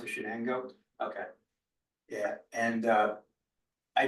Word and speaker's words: Shenango: yes yeah all right that's that's how it's pronounce it Shenango okay yeah and uh I just from the